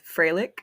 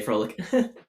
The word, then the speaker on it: Froelich: I don't think I pronounce it right, but it's Froelich. Oh, Froelich. So not Froelich, Froelich. I don't know. If you ask a German person, they'll probably correct me, so I wouldn't trust me.